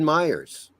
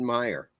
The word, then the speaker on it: Meyer: I mean is this spelled Meyer with a J or not? It's just Fred Meyer. Oh, it's Fred Myers. That's what it's called. Fred. Oh, actually, no. They say Fred Meyer.